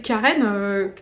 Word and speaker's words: Charon: Donc, Charon, ça s'écrit C-H-A-R-O-N, et au tout début, dans le tome 1, quand Alexis, elle rencontre le personnage et elle dit Charon. Et en fait, le mec, il fait, bah non, pas du tout, ça se prononce que, enfin, Charon. Et elle fait, ah bon, bah du coup, en gros, je vais l'appeler Karen, K-A-R-E-N, et ça me fait